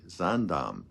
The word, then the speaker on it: Zaandam: That's spelled Z as in zebra, A-A-N, D as in David, A-M as in Mary, Zaandam.